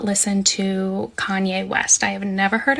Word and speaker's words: Kanye: So I do not listen to Kanye West. I have never heard a Kanye song. I used to pronounce his name Kane because I'm a little dyslexic and that's how I read it.